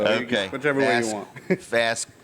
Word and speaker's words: Vazquez: Vazquez. That's exactly what I was thinking. Some people say Vazquez, so okay. Whichever way you want. Vazquez. Vazquez is the Spanish way, and then Vazquez is the American way.